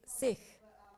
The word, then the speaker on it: Sikh: point one seek which is pronounced sich in punjabi is a word which